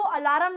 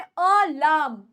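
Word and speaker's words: alarm: है अब याद रखना वर्ड को अलार्म नहीं बोलना वर्ड है अलाम अलाम अलाम सही से प्रोनाउंस करेंगे इसको और ठीक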